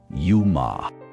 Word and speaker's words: UMA: But they pronounce this yuma.